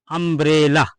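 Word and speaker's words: umbrella: हम अम ब्रेला अंब्रेला अंब्रेला में इस वर्ड की शुरुआत यू से हुई और यू के बाद तीन कंसोनेंट आए एम बी आर और इसके बाद फिर वावेल ई आ गया इसलिए यहां पर यू को हम क्या पढ़ेंगे आ पढ़ेंगे यहां पर यू का उच्चारण क्या हो जाएगा आ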